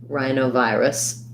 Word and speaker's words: rhinovirus: for virus and then adding on rhino it's it's got the eye on so like like the word eye or my eye um first syllable stress there rhino and then rhinovirus secondary stress on vi rus with the schwa so i would think about that like um even maybe rye if that helps you rai no vi wrists